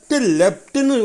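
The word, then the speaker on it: leapt: குச்சிட்டி சேரும்போது லெஃப்ட்டுன்னு உச்சரிக்கணும்.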